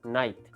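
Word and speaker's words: knight: ना कि खग खग अब इस वर्ड को बोलने में कि और नाइट कितना फर्क है नाइट को मैं इली प्रोनाउंस कर पा रहा हूं लेकिन कि को बोलने के लिए मेरा मुह ही तब्दील हुआ जा रहा है किनी तो फॉर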